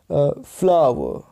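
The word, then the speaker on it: flower: इसी प्रकार एक हमारा वर्ड है फ्लावर, देख रहे हो आप, ये स्लैश रहेगा आपके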